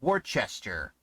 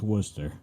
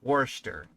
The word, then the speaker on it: Worcester: I pronounced it as Worcestershire as Worcester I pronounce it as War Chester because Worchester Shire sauce or however you want